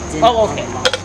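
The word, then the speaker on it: Dîner en Blanc: Dinner on Blanc. I pronounced that right.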